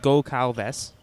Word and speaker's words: Goncalves: Goncalves, it's pronounced Go-Calves. So we've been getting that wrong a bit all day.